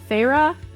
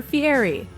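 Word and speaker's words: Feyre: There are two ways to say her name, Farra or Fury. I prefer Fury cuz it's more fun to say for me.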